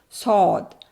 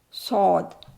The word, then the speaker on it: ص: So, we say sod saw and this is saw and this is here. You can very easily understand about this. What is it? This is the these are the lower teeth. This is the upper one.